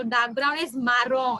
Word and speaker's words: marron: Chestnut brown is dark brown, तो dark brown is मारोन, ये मरून नहीं है, याद रखो, इट्स मारोन, dark brown, MARRON। Okay, मारोन है, मरून नहीं है, बी वेरी केयरफुल।